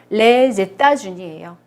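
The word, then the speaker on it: les États-Unis: 미국은 굉장히 발음이 특이하죠. 레제따주니예요. 이렇게만 읽으면 에따주니고요. 정관사로 같이 읽으면 레제따주니예요.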